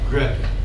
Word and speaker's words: Gret: then NS Hans H look at this G very common combination GR if you if you do your R roll your RS that's okay but in English we don't do that we don't do that in English gret you in Europe you can say gr gret no it's Dutch Dutch Netherlands northern Europe